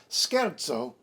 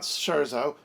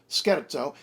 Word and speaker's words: scherzo: e or an i so for instance skerzo not cherzo or cherzo scherzo and bruschetta not bruschetta